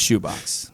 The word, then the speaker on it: ChouxBox: So the first one's Shoebox. Shoebox. Shoebox. I know it's ChouxBox.